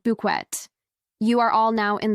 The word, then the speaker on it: Bucket: on the show is her absolute insistence that her surname is pronounced buet you are all now